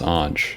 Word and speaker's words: Ange: I'm not too particular myself, but it's usually pronounced Ange.